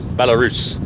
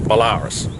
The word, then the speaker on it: Belarus: It is a 1973 Belarus Prawler, or Belarus, as it should be pronounced, but everyone calls them Belarus.